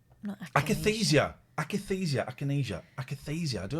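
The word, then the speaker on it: akathisia: um but it's just it's freaking exhausting man akatheesia akathesia akathesia akinesia acathasia i do apologize thank you akathesia akathesia there we go thank you um so uh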